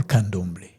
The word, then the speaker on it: candomblé: They call candomblé. You see the three syllables, the three candomblé, riangombe, the same.